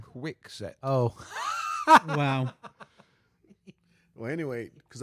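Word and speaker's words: Kwikset: Kiwi set. No, you actually that one was Quick- actually quick- correct, Byard. Quick set.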